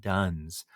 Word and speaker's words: dones: today are quote unquote nuns and duns um just because that sounds differently to our ear particularly when we're thinking about religion um than it is spelled I thought maybe just